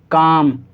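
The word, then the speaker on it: calm: एल दे रखा है, तो इन सही वर्ड्स के अंदर एल को नहीं पढ़ा जाएगा, यानी एल साइलेंट है। तो हम इसको कैसे पढ़ेंगे? काम, बाम, पाम, आमंड। ठीक है, कुछ लोग उसे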